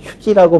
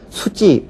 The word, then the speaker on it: 휴지: 많이 있기 때문에이 경우에는 아직 어원 대로 휴지 혹은 저기 이렇게 발음하는 것만 어이고 아 표준 어이고 수지 라고 얘기를 한다든가 혹은 저기 이렇게 얘기를 하는 것은 아직 표준어는 아니다라는 것을 어 그 기억을 해두시기